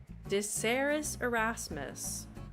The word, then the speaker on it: Desiderius Erasmus: Pronunciation guide where we look at how to pronounce better. Erasmus. In Latin, Desiderius. Erasmus.